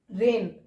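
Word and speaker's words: reign: okay ऐसे ही अगला word है रेन रेन मींस होता है शासन तो रेन में जो एन से पहले जो जी है वो यहां पर साइलेंट है ओके आप इन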